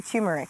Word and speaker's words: turmeric: I I think what you have just put in there, tumeric. Tumeric. How do you say it? I say turmeric.